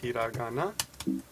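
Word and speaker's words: ひらがな: Hiragana looks like that, and of course it's pronounced Hiragana, right?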